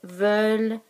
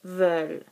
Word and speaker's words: veulent: Nous voulons, vous voulez, ils veulent, elles veulent. We don't pronounce the ENT here.